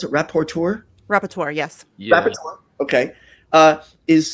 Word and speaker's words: rapporteur: If the United Nations, how do you pronounce it? Rapporteur, yes.